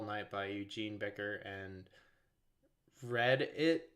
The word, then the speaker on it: Rediit: It's called All Night by Eugene Becker and Read It, but like not Reddit, the forum. It's spelled Rediit.